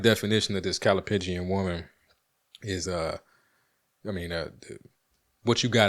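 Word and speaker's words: callipygian: What I use to help me pronounce the word correctly is I think of pigeons. Like the way we would refer to certain women. Like the answer that I'm like, so I get that Calipigian. That's how I remember how to say the word.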